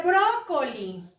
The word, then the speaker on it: brócoli: Aquí dice brócoli. Vamos a dividirlo por sílabas. Brócoli. Brócoli. ¿Dónde tiene la sílaba tónica? En la antepenúltima sílaba.